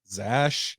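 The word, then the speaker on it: X Æ: and it's pronounced Zash.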